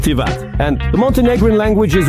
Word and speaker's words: Tivat: Yeah, I didn't know that it's actually pronounced Tivat.